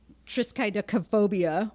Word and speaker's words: triskaidekaphobia: And it was like, you have to pronounce each syllable.